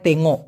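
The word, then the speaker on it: tengok: এখন স্বপ্ন দেখা, আমরা জানি দেখাকে মালয়েশিয়ান ভাষায় বলা হয় তেঙ্গো। কি বলা হয়? তেঙ্গো। উচ্চারণটা কিন্তু ক্লিয়ার শুনবেন, তেঙ্গো, তেঙ্গো না, কিন্তু তেঙ্গো।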